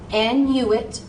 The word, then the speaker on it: Annuit: More times than not, we're going to put that N with the first syllable. So an. You and I. You and I. That was not a vowel combination. So if you see you and I, say the you, say the I. So annuit.